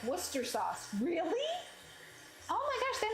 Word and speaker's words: Worcestershire: sniffing it that's hilarious the Shire and Worcestershire isn't spoken it's pronounced like Worcester sauce really oh my gosh